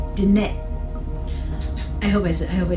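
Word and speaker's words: Diné: glottal stuffs like that so it's not DNA it's Danette I hope I hope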